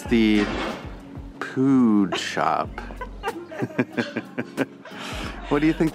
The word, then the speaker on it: pood: What do you think they sell at the pood shop? Okay, I know. We've seen this everywhere, but it means shop, store. Right. And it's pronounced pood, I think.